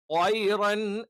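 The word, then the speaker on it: طَيْرًا: ത്വയ്റൻ ത്വയ്റൻ എന്ന് പറയുമ്പോൾ മലയാളത്തിലുള്ള ത്വയ് ആയി പോകാൻ പാടില്ല.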